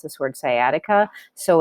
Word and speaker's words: sciatica: nerve and a really common one is called sciatica that's how you pronounce this word sciatica so it's a typonaritis and this is the